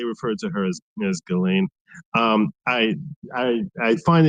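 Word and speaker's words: Ghislaine: Um first and foremost, I I cannot believe for a second I attended the Galain Maxwell trial. That is the way they pronounce her name. You can jokingly call her Jizlane or whatever you want, but just it's for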